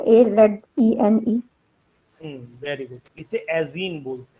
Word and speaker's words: azene: सर एजीन बोलते हैं, AZENE। Very good, इसे एजीन बोलते हैं, एक नाम।